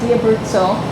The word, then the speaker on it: Di Abruzzo: Tim reading with why Denton and I'm at DIA brutzel and am I saying it correctly yeah you